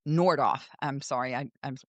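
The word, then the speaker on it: Nordhoff: And it's Nordoff. I'm sorry I I mispronounced that.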